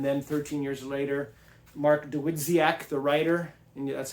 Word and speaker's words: Dawidziak: Uh it was published in 19 uh 84 and then 13 years later Mark Dwitziaak the writer and that's how you say his name Ditziac uh wrote this revised version. Dizzyak also wrote a really good book on Columbbo